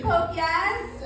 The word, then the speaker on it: Popeyes: My dad, his favorite place is this fried chicken one called Popeyes, which some of you will know is spelled Popeyes. So my dad pronounces it Pope, yes.